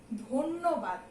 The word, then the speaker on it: ধন্যবাদ: তারপরে এখানে লেখা আছে দেখো ধন্যবাদ, কিন্তু এটা আমি উচ্চারণ করি কি, ধন্যবাদ। ধয়ের সঙ্গে কিন্তু একটা ওকার যুক্ত হয়ে যায়।